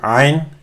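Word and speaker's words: ع: It's pronounced with the middle of the throat. It's a full sound with the open mouth. Ain, it's from here. It's not an, because then it becomes an A.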